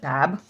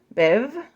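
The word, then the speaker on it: Badb: one I always said bab and like I still don't even understand I'm going to like show it to you B Biv not bab it's not bab Biv I'm going to call it Biv I may still be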